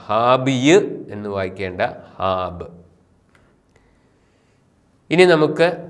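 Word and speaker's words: ܚܘܒܐ: ഈ പദം ഹാബ്, ഹാബിയ് എന്ന് വായിക്കേണ്ട ഹാബ്. ഇനി നമുക്ക് കുറച്ച് നമ്മളിപ്പോൾ പഠിച്ച 10 അക്ഷരങ്ങൾ ഉപയോഗിച്ചുള്ള ഏതാനും വാക്കുകൾ ഒന്ന് വായിച്ച് പരിശീലിക്കാം. വായനാ പരിശീലനം. ഉ എന്ന സ്വരത്തിന് ശേഷം വരുന്ന വാവ് ഉച്ചരിക്കുന്നില്ല.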